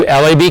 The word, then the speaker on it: Lab: It's not comic, it's not URB, and it's not lab. It's LAB.